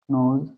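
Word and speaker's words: know: राम जानता है राम न सीता गाती है सीता सि वे जानते हैं वे का भी होगा क्या दे जानते का नो जानना का नो होता है के इसमें साइलेंट रहता है य लोग जानते हैं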